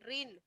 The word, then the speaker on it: reign: Reason का मतलब प्रांत हो गया, एरिया हो गया, और REIGN रीन, ठीक है ना? इसको रीन प्रोनाउंस करेंगे।